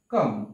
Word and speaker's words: calm: এরপরে হচ্ছে কাম, কাম শব্দের অর্থ হচ্ছে সি এ এল এম, এখানেও কিন্তু এল আছে কিন্তু উচ্চারণ হবে না কাম।